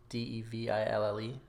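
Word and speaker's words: De Vil: devil like it's pronounced yeah i know it's pronounced deville but there is no way disney is way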